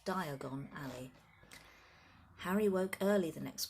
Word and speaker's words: Diagon Alley: how you pronounce it it's a dragon at first but it's not it's Diagon Alley Harry woke early the